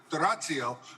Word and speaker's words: D'Orazio: Please choose D'Orazio, or as Pietro correctly pronounces it, D'Orazio, for your next LNC chair.